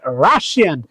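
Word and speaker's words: Russia: Dash রাশিয়ান, রাশিয়ার উচ্চারণ মনে রাখবা, নট রাশিয়া, রাশান। তাহলে রাশিয়ান শর্ট মনে রাখবা, রাশিয়া। This is নট রাশিয়া, this is pronounce রাশা।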